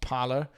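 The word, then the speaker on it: Parler: i think it's called according to the internet it's it's it's pronounced parlor uh somebody who did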